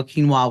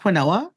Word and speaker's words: quinoa: The first time I realized how quinoa was pronounced, I was like, wait, it's not quinoa? I mean, phonetically, it's quinoa.